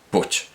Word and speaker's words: Puig: Y era siempre Jorge Luis Borges el que le decía como una curiosidad, como una anécdota, que en catalán su apellido se pronunciaba Puig, pero él no lo pronunciaba Puig.